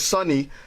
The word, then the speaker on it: Sony: Sony Sorry. rhymes with Boney.